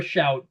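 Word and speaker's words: Shough: Oh, Tyler Shout or what the what I Yes, it's like spelled like show, but he he pronounced it like shout or something like that.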